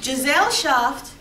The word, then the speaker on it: Gesellschaft: And then in a Gesellschaft, the word that Giselle rhymes with is jail.